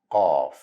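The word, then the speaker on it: ق: It's also a heavy version of letter K. Ka, ka, qa, qa. Here you need to dig deeper in your throat to find the right sound of it. Qaaf. The throat should be constricted same way of letter Sad and Dad.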